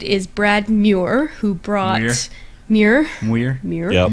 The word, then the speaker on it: Muir: Muir. Yep. Muir. You're Mr. making fun of my pronunciations again.